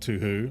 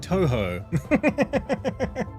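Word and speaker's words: Touhou: It's pronounced like Toho.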